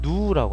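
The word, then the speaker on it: ν: 지수 를 보통 나타내는 이것은 누우라고 합니다 그래서 누구라고 읽고 요원은 마찰 계수는 뮤 라고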